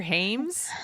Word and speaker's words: Hyams: But we're talking about The Presidio, directed by Peter Hyams. Hyams? I'm going to say Hyams. Hyams. Oh, God. I mispronounced it on purpose.